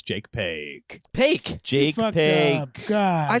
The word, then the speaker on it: Jake Paque: we can just have a moment of silence, and I can say, Jake Paque. Oh, how do you say that? You Paque? just did it right.